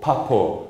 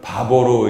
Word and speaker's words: 파포: 나중에 여기 어디로 왔냐면 원래 발음은 바토 파포 근데 우리나라는 바보로 이름을 성경에 써 놨어요 같은 말입니다 바보에 왔습니다